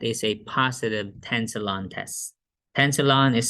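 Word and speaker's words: Tensilon: of edgeophonium that is a positive tensalon test tensalon is spelled t-e-n-s-i-l-o-n tensalon tensalon is again what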